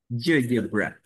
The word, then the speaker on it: GeoGebra: And how do you pronounce it in English? Because I actually don't know. GeoGebra.